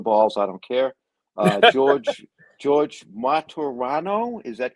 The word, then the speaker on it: Martorano: George Martorano, is that correct? Yeah, 3 syllables. Martorano, yes. Martorano.